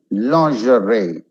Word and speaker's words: lingerie: debris, debris, no debris, debris, poignant, poignant, asthma, asthma, lingerie, lingerie, like an R-A-Y, lingerie.